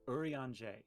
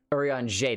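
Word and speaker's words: Urianger: pronounce the the r it's pronounced what it's it's french so it's it's urian j orion j that's right that's right there's the the j at the end when you first said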